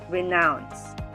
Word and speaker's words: renounce: second syllable is nouns renounce this time the stress is on the second syllable renounce three syllabic words amplify